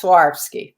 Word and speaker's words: Swarovski: monet how do you say that swarovski yes swarovski yes um it'll either say swarovski on the